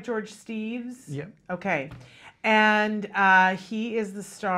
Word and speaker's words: Steeves: We're here with George, and am I saying it right, George Steeves?